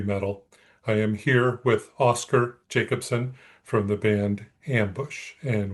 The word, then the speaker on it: Oskar Jacobsson: Oh, yeah. That's a hard one. I have a problem pronouncing it myself sometimes. Uh, Oscar Jacobson, that's the Swedish pronunciation, but Jacobson is international, so let's go with that.